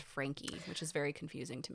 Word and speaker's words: Franke: Yes, it's spelled Frank, but it's pronounced Frankie, which is very confusing to me.